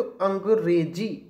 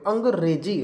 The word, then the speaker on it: अंग्रेजी: अंग्रेजी को किस तरह से लिखा जाता है, प्रोनाउंसिएशन जब करोगे तो अंग्रेजी, गे नहीं पढ़ रहे हो, अंग्रेजी नहीं पढ़ रहे हो, अंग्रेजी, र पे एक ही मात्रा है, समझ गए।